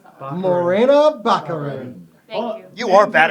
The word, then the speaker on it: Morena Baccarin: need for the Deadpool movie and that is Mirena how do you pronounce that Morena Baccarin thank you you are bad at names ghost